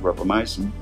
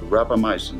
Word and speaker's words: rapamycin: a antifungal agent named rapamycin grappa from the first syllable of Rapa Nui and my sin for anti fungal so this compound was